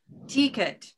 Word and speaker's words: ticket: And so you might be saying ticket. That's a very common mispronunciation. Ticket, ticket, with a green vowel instead of a silver vowel.